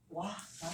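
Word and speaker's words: は: 이 글자가 어떠한 단어를 주어의 작용을 갖도록 도와주는 그런 품사, 주격 조사로 쓰일 때만 일시적으로 발음이 와가 되는 거예요.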